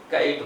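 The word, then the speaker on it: kite: क्या बोलते हैं, आई का साउंड निकालना है, कैट नहीं बोलना है, क्या बोलना है, काइट बोलना है, ठीक है, काइट।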